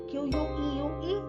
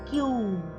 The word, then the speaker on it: queue: So, in pronunciation it is a three-letter word, Q.